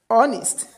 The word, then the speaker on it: honest: So in a honest honor our ab in this mentioned words H is not pronounced.